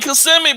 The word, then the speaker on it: Kissimmee: I'm in Kissimmee, bro. That's where you. That's how you say it. Yeah, I live in Kissimmee. I thought it was kissing me.